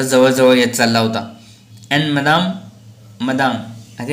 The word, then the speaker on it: Madame: अँड मदाम आता या ठिकाणी बघा MADAME, मदाम हे स्पेलिंग आहे. ॲक्च्युली फ्रेंचमध्ये आपण मॅडम असा उच्चार न करता मादाम असा उच्चार केला जातो, पण आपण या ठिकाणी मॅडम म्हणूया.